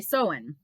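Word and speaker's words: Samhain: a celtic winter festival called shaman pronounced so in sorry so in which marked the beginning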